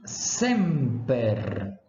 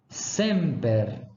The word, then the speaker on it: semper: s que se pronunciar essa tem sempre o valor de uma simmiland surda como é que é isso professor é um som de s mesmo certo como é o